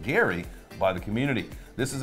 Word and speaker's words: GYRI: Gala has been working on their own blockchain dubbed Project GYRI, pronounced Gary, by the community.